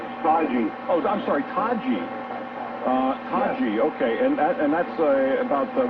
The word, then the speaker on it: Taji: Is that how you pronounce it? Taji. Oh, I'm sorry, Taji. Taji, yes.